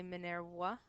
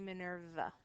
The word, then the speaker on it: Minerva: very long time so when we pronounce her name in latin we say minerwa when we pronounce her name in english we say minerva all right i'm going